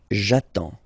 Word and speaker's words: attends: J'attends. Okay, you get D and S, well, basically you don't pronounce them, okay, and then you get only the sound attends, nasal here, en, j'attends, okay.